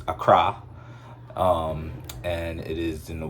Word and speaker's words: Accra: visited ghana we visited accra ghana at first i was calling it because it's spelled accra we was calling it acura we we i was